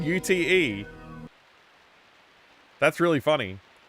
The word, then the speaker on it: ute: recently heard an American pronounce it UT and I'm like that's so wrong. Wait, they just said UTE.